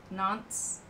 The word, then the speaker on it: Nantes: You'll go next year, and it rhymes with aunts, Nantes. Yeah, we don't pronounce the S, which makes no sense.